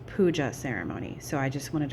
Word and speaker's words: puja: I was pronouncing it as a puha ceremony and it's pronounced pua ceremony.